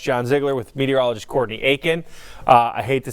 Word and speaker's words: Aiken: it to me in Aiken. That's it. I learned something, like it's pronounced the same. It's exactly the same, minus one letter.